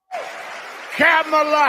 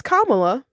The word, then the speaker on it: Kamala: saying her name wrong camela Harris our leader cameela they okay so they're not quite saying it right okay then I'm I'm sure it's it's Kamala but people aren't saying it right isn't it's not on